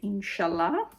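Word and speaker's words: Insciallah: Written not in the usual way, but in the Italian pronunciation way. Inshallah.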